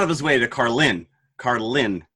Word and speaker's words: Carlin: Carlin is how he pronounces it. The emphasis is on the Lynn, Carlin, rather than, George Carlin.